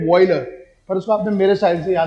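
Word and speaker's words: Wöhler: अगर सही प्रोनाउंसिएशन है तो फ्रेडरिक वॉयलर, पर उसको आपने मेरे साइड से याद करना है।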